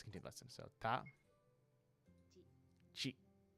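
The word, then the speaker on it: ち: The first exception is chi, which starts with a C as opposed to a T, and adds a soft H sound.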